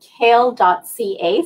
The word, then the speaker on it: CAEL: if you go to kale.ca so cael.ca pronunciation is like the vegetable the spelling is not but it is kale.ca